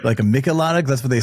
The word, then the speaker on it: Michelada: But the original name and kind of the way it's pronounced in Mexico, it's Michelada. But we hear obviously in the States, everybody calling it like Michelada and, other cheladas.